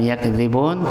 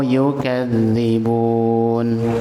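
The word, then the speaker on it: يُكَذِّبُونَ: Iya bukan yakzibun tetapi yukadzibun. Ulangi lagi. Walahumuzabun alimum bimau yukadzibun.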